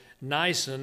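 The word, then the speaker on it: Nisan: that abib was later changed to niacin as i pronounce it n-i-s-a-n but that was used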